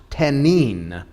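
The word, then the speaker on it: תנין: It's the Hebrew word for dragon is the word pronounced tenin.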